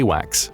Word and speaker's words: AWACS: Known as the E-3 Sentry, these Airborne Early Warning Command and Control planes, or AWACS (pronounced A-WHACKS) for short, are the eyes and ears of NATO in the sky.